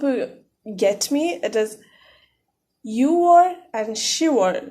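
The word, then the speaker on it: 유월: So for the sake of comfort, Yugor is written and pronounced as Yuor. I hope you get me. It is Yuor and Shiwor, not Yugor and Shibor.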